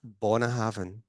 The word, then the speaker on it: Bunnahabhain: latterly, the guys at the distillery have been pronouncing it Bunnahabhain.